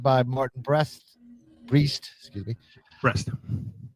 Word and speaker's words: Brest: Breast. Breast is a breast. Like boobies.